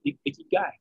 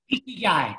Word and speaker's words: ikigai: What's the ikigai? Ikigai.